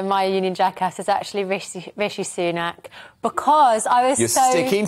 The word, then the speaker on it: Rishi Sunak: Rashid Sunak is now the Prime Minister. And then I saw his official spokesperson pronounce his name the same way earlier today.